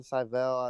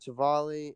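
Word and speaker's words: Civale: staff he has aaron cyvell i don't know if that's how you say it right travali oh i was way off but he's got chivali and and gibson who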